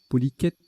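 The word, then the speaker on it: polychète: Polyquette, ça se prononce, polyquette.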